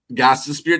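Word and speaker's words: Gostisbehere: And Shane Gostenberger. And I say that because those are some hard-ass names in the NHL to pronounce. But anyway. Goss the Spear.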